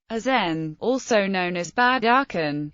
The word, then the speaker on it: Aachen: Aran German pronunciation aen also known as bad aren is a spar